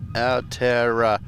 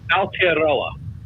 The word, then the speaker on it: Aotearoa: Aotearoa.